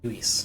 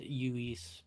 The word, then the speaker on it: Lewis: Yes, I believe it's pronounced Uis, not Uis? Okay, Uis. Yeah, sorry. Spanish. I'm so just in the US used to a Saint Louis, so I never think double L as a Y sound.